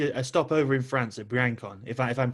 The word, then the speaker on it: Briançon: So, before you stopped, you made a stopover in France at Briançon, if I'm pronouncing that correctly. But Briançon. Briançon.